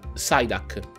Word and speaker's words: Psyduck: Non ho mai capito perché gli inglesi non pronunciano la P se è seguita da una consonante. Come polmonite, pneumonia, ma c'è la P davanti alla N, non si sente, perché polmonite è la